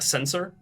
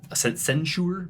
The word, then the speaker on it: censer: And there is a woman, sort of with a censer, censure. Not sure how that's pronounced. It's censer. Censer, yeah, the little metal thing that has incense coming out of it.